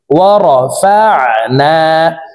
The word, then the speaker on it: ورفعنا: আইন হরফকে হালকের মধ্যখান থেকে উচ্চারণ করব, কারণ আইনের মাখরাজ হালকের মধ্যখান থেকে হবে। ওয়ারাফা'না, লাম জবর লা, কাফ জবর কা, ওয়ারাফা'না লাকা।